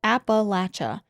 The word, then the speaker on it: Appalachia: I know y'all have been back and forth on how to pronounce it, and I say it like Appalachia.